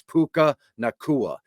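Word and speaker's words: Puka Nacua: his name I know it's I how you pronounce it it's it's puka nakua he led the team in Targets in receptions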